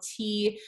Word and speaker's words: turgor: And this is thought to be a mechanism by which roots regulate their internal pressure, what we call turgor pressure, that's spelled T-U-R-G-O-R, turgor pressure.